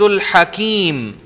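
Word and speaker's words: الحكيم: یہاں پر عزیز عین کو انڈر لائن کریں گے, حکیم ہا کو انڈر لائن کریں گے, نہ عزیز ہے اور نہ حکیم ہے, ہم نے یہ تلفظ ٹھیک کرنا ہے.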